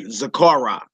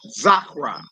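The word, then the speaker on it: זכרה: So you wouldn't say Zakara. Right. You wouldn't say Shamaha. Right. Shama. Yeah. Shama. Zakra.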